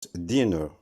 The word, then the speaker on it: dinner: Et quand il indique un repas, il se prononce dinner.